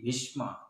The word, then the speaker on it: ভীষ্ম: ভবান বান ভবান আগে ভি ভীষ্ম ভীষ্ম, সকারটাকে মকারটাকে স্পষ্ট উচ্চারণ করতে ভীষ্ম ভীষ্ম।